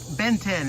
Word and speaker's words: Benten: Benten. It's spelled B-E-N-T-E-N. Like the cartoon Ben 10.